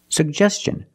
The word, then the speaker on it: suggestion: Gest suggestion and Tin the T makes the CH sound so together suggestion suggestion put stress on the second syllable he made a suggestion